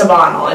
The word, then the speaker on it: Ebanel: which is, or Ebanel, E-B-A-N-E-L, Ebanel, Ebanel, it's Ebanel, it's pronounced Ebanel.